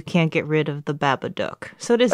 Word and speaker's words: Babadook: get rid of the Babadook. So it is It's Duck. gotta be Duck. Because it rhymes with look.